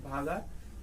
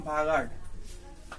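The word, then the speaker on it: বাগড়: উত্তর দিকে প্রবাহিত হয় রাজস্থানের এই জায়গাটার নাম হচ্ছে ভাগাড় বা ভাগার, আমরা বাংলায় বলি ভাগার। রাজস্থানীরা আর কে ডি উচ্চারণ করে। তো এই ডিস্ট্রিক্টটার নাম ভাগাড়।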